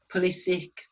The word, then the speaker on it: Pulisic: Pulisic is how you say his name.